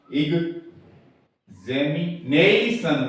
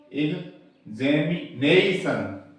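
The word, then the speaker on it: examination: वही मान्य होते हैं तो आईपीए के अनुसार उच्चारण होगा इग जैमी नई सन ये थोड़ा इसमें प्राइमरी स्ट्रेस लगेगा बल इस पे ज्यादा लगेगा फिर इस पे कम लगेगा इग जैमी नई सन ये होगा इसका तो ए टी आई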